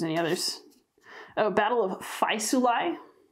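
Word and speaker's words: Faesulae: others oh battle of phi sulai that a e sounds like i hi that kind of sound constanz is how his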